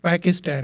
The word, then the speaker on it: Pakistan: Yeah, so basically I'm from Pakistan, and I'll say it, Pakistan, just the way my daughter says it. Like, why you call it Pakistan? It's Pakistan.